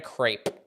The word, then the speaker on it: crepe: ambiguous so that's why they call it a crepe as if it was spelled c r a y p uh Muna coconut same